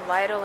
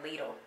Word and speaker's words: Lidl: All right, let me show y'all what I got from the Lidl. I hope I'm pronouncing it right. Is it Lidl? Lidl? My other friend was saying Lidl. I'm pretty sure it's Lidl. Let me show you what